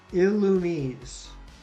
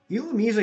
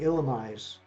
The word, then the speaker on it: Illumise: But Illumise is stupid. That is dumb. That is such a weird pronunciation. I'm going to keep saying Illumise. I don't care what anybody says. It's always going to be Illumise to me. It just makes no sense. Like, if you want to get technical, like with writing and everything, if they wanted to be Illumise, it should have had an accent on the E.